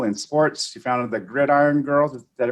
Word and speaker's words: Gridiron Girls: She founded the Gridiron Girls. Did I pronounce that right?